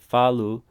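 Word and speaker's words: falo: what that so follow remember how he said to do follow not follow but falu uh portuguese kind of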